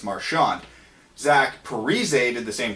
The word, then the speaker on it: Marchand: ago Brad Marchand said he wanted to pronounce marsh and and now this year he's going on record as saying it's Marshawn Zach Parise did the